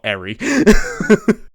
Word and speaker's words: Eri: Also, it just occurs to me I've been calling that woman Ellie and not Eri.